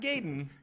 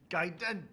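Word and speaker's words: Gaiden: yeah lumz ninja giden oh giden gayen not gayen giden I remember Jeff Gro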